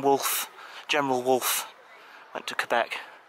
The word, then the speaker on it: Quebec: Got a feeling Wolfe entered Quebec. I got a feeling that might have been 1759 when Wolfe, General Wolfe, went to Quebec, or Quebec, I believe it's pronounced, not Quebec, Quebec, in Canada.